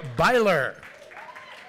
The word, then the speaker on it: Beiler: klein writers emily altman jeremy beiler rhymes with tyler it says here neil casey